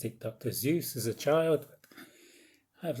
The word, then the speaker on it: Seuss: I've only just learned how to pronounce Dr Seuss. I always pronounced it Dr Seuss as a child, but I've learned it's Seuss.